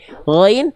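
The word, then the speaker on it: غين: Gain dibacanya jangan kayak huruf G. Memang kan kalau ditulis pakai bahasa Indonesia G gitu kan. Tapi kalau huruf gin dia ada ngalir suaranya lebih lembut.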